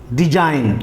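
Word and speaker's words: design: तो रूल के मुताबिक जी सेलेंट होता है डिजाइन आपने देख लिया डिजाइन के बाद अब साइन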